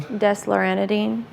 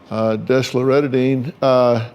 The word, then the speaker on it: desloratadine: nightly for your 12-year-old, and how do you pronounce this one? Desloratadine. Desloratadine, take 1/2 tab by mouth daily.